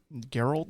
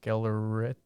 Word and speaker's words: Gellert: Geralt? Geralt. Geralt Grindelwald. Geller, Yeah. but it's double L. Gellert.